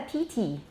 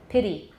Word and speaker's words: pity: american english all right so i don't say pity in taiwan english you often hear students say what a pity like a tea woman pity pity pity that's the american way all right so